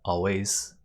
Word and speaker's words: always: Note that the S at the end of always is pronounced like a Z. Always, not always, but always.